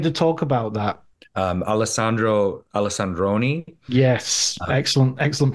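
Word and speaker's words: Alessandro Alessandroni: yeah I wanted to talk about that um alesandro alexandroni yes excellent excellent pronunciation sir thank you he did I know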